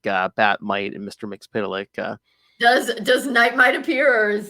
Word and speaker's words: Mxyzptlk: Mxyzptlk, yeah.